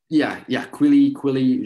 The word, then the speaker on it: Quilly: How do you say it? Quilly, just really whatever.